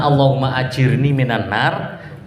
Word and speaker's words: Allahumma ajirni minan nar: Allahumma, harusnya Allahumma ajirni minan nar, tapi dia itu bacanya kan Allahumma ini asalkan minan nar tuh.